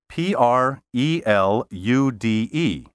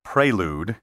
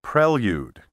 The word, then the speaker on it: prelude: pronounce the word spelled p r e l u d e don't say prelude that's a vogue pronunciation the preferred pronunciation is prelude with prelude as an acceptable alternative the pronunciations envelope and